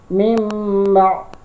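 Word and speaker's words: مِنْ بَعْدِ: Dan cara membacanya adalah karena huruf n-nya harus dirubah bunyinya menjadi m, makanya cara membacanya adalah begini. Mimba. Nah, jadi n-nya dirubah menjadi bunyi m.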